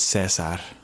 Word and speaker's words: Caesar: is that you see Caesar capturing some of the human soldiers MH and then also you see later on the trailer Woody Harrelson's militia capturing some of the Apes it's pronounced Cesar say say and then uh yeah